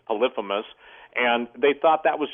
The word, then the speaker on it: Polyphemus: Some people pronounce it Polyphemus, but I believe it's Polyphemus.